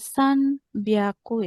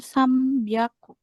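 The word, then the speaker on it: 三百: Nah, huruf N ketemu huruf B ini juga akan dibaca menjadi M ya, bukan sanbiaku melainkan sambiaku. Ya, bukan sako tapi sambiaku. N ketemu PM, N ketemu BM.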